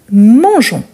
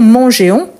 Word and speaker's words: mangeons: de gu à G je vais écrire nous mangeons donc on ajoute le E plus on on va dire mangeéons non mangeons mangeons c'est juste pour éviter Mangon donc on dit mangeons